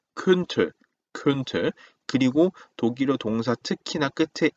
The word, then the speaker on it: könnte: 자, 참고로 오 umlaut 발음은 우리가 지겹도록 같이 했었죠. 오 한 상태 소리만 이니까 그러니까 왜하고는 다릅니다. 그래서 캔이 아니고 könnte, könnte.